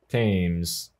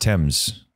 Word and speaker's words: Thames: don't like it you can drown in the teams I think it's pronounced Thames yeah ah what's that horrible gnashing sound oh